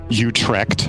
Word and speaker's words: Utrecht: lovely dutch city of utrecht yeah we were in baltimore you can pronounce it the dutch way there you go you trekked team liquid the willow